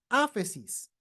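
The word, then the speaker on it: ἄφεσις: Se pronuncia áfesis, libertad, perdón, remisión.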